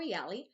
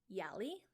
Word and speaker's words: Yali: host dalia or yali and i thank you so much for taking